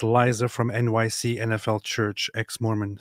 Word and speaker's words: Liza: So, Lisa. Okay, wait. You just said Lisa like Lisa Minnelli. Do you mean Liza?